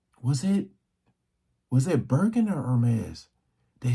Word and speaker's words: Hermès: But they're saying that the Hermès, I always pronounce this wrong. I be wanting to say that H, but that H is silent. Hermès finally sues Chinese manufacturers after this is getting out of control.